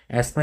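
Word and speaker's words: asthma: तो एस्मा की अगर मैं बात करूंगा तो एस्मा बोलते हैं इसको बेसिकली प्रोनाउंसिएशन ऐसा अलग ही अस्थमा नहीं बोलते हैं इसको।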